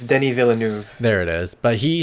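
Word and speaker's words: Denis Villeneuve: pronounce the director's name is it deneen villain i think it's denny villeneuve there it is but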